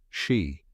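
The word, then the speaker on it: sídhe: The locals call them fairy mounds, or in the ancient Gaelic language, the Side, pronounced she.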